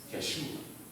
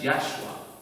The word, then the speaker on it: Yeshua: Ahora, haciendo un estudio acerca del nombre de Jesús, vemos nosotros que efectivamente en el hebreo el nombre de Jesús se pronuncia Yeshua. Correcto, Yeshua.